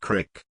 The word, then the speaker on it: creek: Shortly after the factory, around the bend there came a bridge over a small creek, or if you're from the northern states you likely pronounce it crick.